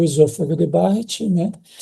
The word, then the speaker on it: Barrett: Falando sobre doença do refluxo, nós temos então o esôfago de Barrett, né? Ou esôfago de Barrett, que seria a pronúncia correta, porque isso foi descrito